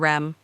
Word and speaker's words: REM: he explained to me a DM and R M pronounced atom and REM considering your placement in